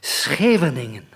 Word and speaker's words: Scheveningen: It's got ngens in it, a sort of thing, but it's Scheveningen. Scheveningen, the coastal town near The Hague. I have to apologize for my pronunciation and the defects in it, because getting it right is clearly so hard for foreigners.